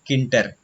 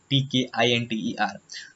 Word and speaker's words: Tkinter: So in the Tkinter world, some of the people pronounce it Tkinter, but it's not good. It is Tkinter, Tkinter.